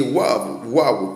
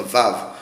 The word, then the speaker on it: Waw: Le W qui est Waw peut encore se dire Vav, ça s'écrit W-A-W, ça peut se lire Vav comme Wav.